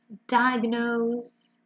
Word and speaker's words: diagnose: So, wiggly, diagnose, stress is on die, struggling, essentially, acing, twist, conclusively, and breakthrough.